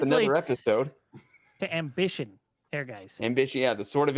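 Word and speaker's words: Ehrgeiz: How do you pronounce it? Air guys. Airgeis. Eric guys. This was during Square's time when they were releasing games with German names, Mm-hmm.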